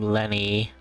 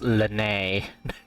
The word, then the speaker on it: Lynette: just arrived in Fontaine why the English want to call him Lenny with like l-e-n-ny when it's pronounced Lanae why we were just